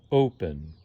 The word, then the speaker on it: open: begin second syllable stressed but with this word and this word it's the first syllable that stressed open offer in these cases